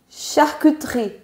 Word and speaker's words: charcuterie: plus vite, on dit charcuterie. Super. Charcuterie. Donc, le E qui est juste ici disparaît quand on parle vite.